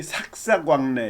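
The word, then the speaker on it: 삭삭왕래: 그 다음에 여기 삭사광래, 이거 수수왕래라고 읽으면 안 돼요.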